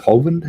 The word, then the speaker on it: Hovind: you thought hovind or whatever his name is hovind is how you pronounce it was the problem you were right